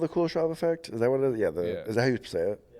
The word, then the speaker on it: Kuleshov: Like, Is that called the Kuleshov effect? Is that what it is? Yeah. Is that how you say it? Yeah. The Kuleshov effect.